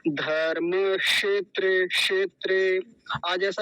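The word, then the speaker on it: धर्मक्षेत्रे: मिलकर बनता है क् जब केवल क् बोलेंगे केवल इसी को बोले तो क की आवाज बड़ी कम आती है बहुत कम या कई बार कहे कि आती नहीं है लेकिन यदि किसी और के साथ जुड़ जाए जैसे एक शब्द पहले आ गया धर्म तो इसके साथ जब बोलेंगे तो क की आवाज एकदम स्पष्ट आएगी और कैसे बोलेंगे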